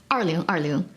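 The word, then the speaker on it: 二零二零: in 2020 in Chinese 2020 is pronounced as Arlo Arlo which is very similar to Annie I mean love you love you in Chinese so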